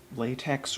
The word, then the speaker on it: LaTeX: mats is working in latex or I've heard it's pronounced latch like where's the k sound come from um okay that's